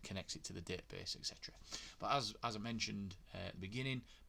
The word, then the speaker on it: etc: the etc folder, or the etc folder, however you want to pronounce it. I think Magento people actually pronounce it on the tutorials, pronounce it Etsy, which is pretty cool, but I'm not going to be cool. I'm going to be me, and I'm going to say etc.